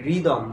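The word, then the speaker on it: rhythm: এটা যদি আমরা উচ্চারণ করি, দেখো এই যে আর এর পরে এইচ আছে তাহলে হবে কি রিদম।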